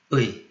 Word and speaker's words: 의: So I will go with U:I, which should be pronounced like a single syllable. 의, 의.